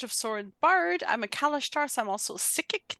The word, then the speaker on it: Kalashtar: I'm a Kalashtar, so I'm also psychic. That is the correct way to pronounce that. I'm French, I know.